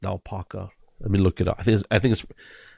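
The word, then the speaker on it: Naupaka: I I think it's I always even as a kid I would always say it wrong but I'm pretty sure it's n Paka uh now Paka yeah now Paka okay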